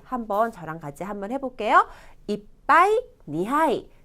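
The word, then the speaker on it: 一杯: 표를 보시면 한자는 이찌 하이가 아니고 이빠이라고 얘기를 합니다. 이빠이. 발음의 변화가 나와서 그래요.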